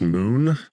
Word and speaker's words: Muun: Yeah, those are I think it's pronounced Moon. Like it's spelled Muun for the species.